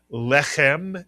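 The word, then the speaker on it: לחם: If you said lehem, you are correct.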